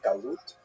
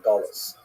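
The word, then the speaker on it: גלות: connotation but the word exile in Hebrew galut or in aazi pronunciation gulus uh that Jews were thrown out of their land.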